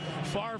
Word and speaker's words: Favre: Favre rhymes with starve. Don't worry about the order of the letters. Just say it right.